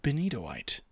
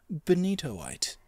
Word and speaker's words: benitoite: Ah, yes, and I've since found out that this is pronounced Benitoite. Benitoite. Or something like that.